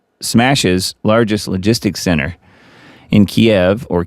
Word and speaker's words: Kiev: Moscow smashes largest logistics center in Kiev or Keev as some people say.